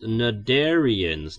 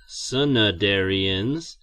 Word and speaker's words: cnidarian: wow wait a minute is that c really supposed to be there it's pronounced narian not sadarian it's like I'm back